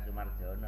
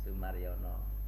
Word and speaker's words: Sumarjono: Bacanya itu ejaan lama, nama saya itu bacanya bukan Sumarjono, nanti diganti orang nanti. Jadi Oh baik Bapak, mohon maaf. Sumaryono.